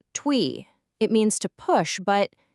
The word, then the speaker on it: 推: So the first character is pronounced twi.